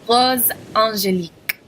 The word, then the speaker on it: Rose Angélique: So the way you would pronounce it is black magnetique, black magnetique. Rose angélique, rose angélique.